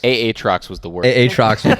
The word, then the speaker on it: Aatrox: pronounce champs differently. I was about to say. I'm trying to be LS here. Nasus, Atrox, Aatrox was the word.